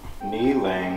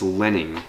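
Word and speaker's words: Li-Ning: Kneeling. How do you spell that? N-I-L-I-N-G. Christmas. Kneeling. Christmas. N-I-L-I-N-G. It's not kneeling, it's lenning.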